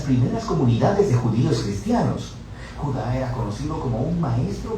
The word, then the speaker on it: Judá: de Judas más precisamente Judá de acuerdo con la pronunciación de su nombre tanto en griego como en hebreo Judá Era uno de